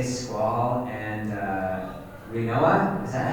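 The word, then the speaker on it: Rinoa: So, I have to say Squall and uh, Renoa. Is that how you say her name? Yeah, Renoa.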